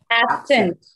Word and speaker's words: absent: Absent. Conduct. First one, it is the stress is on the first syllable.